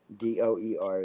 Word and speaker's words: Dewar: actually Dewar. Doer is the pronunciation.